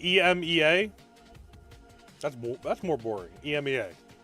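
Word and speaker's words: Emz: It's pronounced ema.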